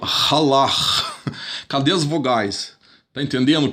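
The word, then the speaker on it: הלך: An example of this is this Hebrew word, which is pronounced halach.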